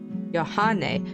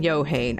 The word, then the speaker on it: Johan: disappointing people let's see my pronunciation is Johan Johan oh my God I have oh I'm sorry Johan I've been pronouncing your name wrong the whole time and you keep coming back to my streams thank you so much y H that sounds that sounds a lot better than yohane I am so hard